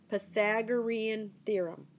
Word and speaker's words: Pythagorean theorem: Pythagorean theorem so that's how you say it Pythagorean theorem okay so that's the topic of the day